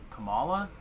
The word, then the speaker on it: Kamala: they didn't like Kamal Kamala I want to make sure say her name is close comma they didn't like her